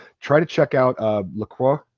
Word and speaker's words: LaCroix: to check out uh Lacroix Lacroix LaCroix I'm not sure guys I'm not good with the French but that I'm pretty sure that x is silent anyway that's what